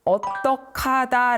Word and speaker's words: 어떡하다: 해를 붙인 어떻해네 어떻게 해 요거 한번 살펴볼게요 어떡하다 말이 있습니다 제가 발음한 그대로입니다이는 어떻게 하다가 줄어든 형태입니다 어떻게 해라는